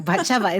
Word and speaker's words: Batsheva: Batsheva, it's from another language. It's just the accent's on the middle syllable, and it throws everybody off.